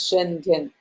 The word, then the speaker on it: Schengen: You go online and say how to pronounce Shen, whatever, and they told me Schengen. That's how they told me. So I pronounced it as Schengen.